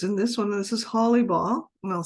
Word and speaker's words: Hollibaugh: This is Holly Ball, and I'll spell it for you in case you're not familiar with it.